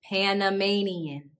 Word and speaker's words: Panamanian: from panama are called panamanian panamanian notice the difference in the pronunciation of the third syllable in panama and panamanian and now we're going